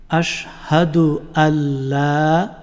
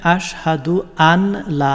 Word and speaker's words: আশহাদু আল্লা: আমরা যাচ্ছি কালিমা শাহাদা আশহাদু আল্লা এখানে আশহাদু আনলা না হয়ে আল্লাহ হবে আশহাদু আল্লা ইলাহা ইল্লাল্লাহু